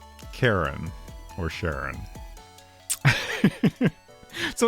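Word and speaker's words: Charon: I could determine um knowledgeable people agree that it is pronounced Karen, but I think Sharon is at least in the US seems like a more common pronunciation of it.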